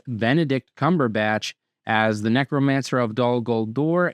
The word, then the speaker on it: Benedict Cumberbatch: And then both of his names have three syllables. It's Benedict Cumberbatch as the necromancer of dollor and smow in the hobbit as well as of course Dr.